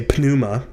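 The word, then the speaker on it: πνεῦμα: panuma in in english when we have a p before an n the p is silent but in greek you would say pnuma and um pnuma is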